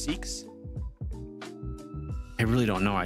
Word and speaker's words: Sikhs: S-I-K-H-S. And I... Yes. Oh, I don't know if I think I pronounced that correctly. Yeah, I think it's Sikhs, isn't it? Isn't it pronounced Sikhs?